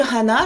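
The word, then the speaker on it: はな: À ne pas confondre avec hana, par exemple, genre le voyage de Hana, là. Le voyage de Hana, qui signifie donc fleur, hana. Donc ici, bien dire hana. Hana, 2 syllabes. Hana pour le nez.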